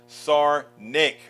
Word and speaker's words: Sarnik: It is pronounced Sarnik. Okay. I did it right, actually.